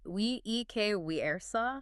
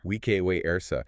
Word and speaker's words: vice versa: How would Caesar have pronounced vice versa? He would have said, we ek we ersa. Vike we ersa.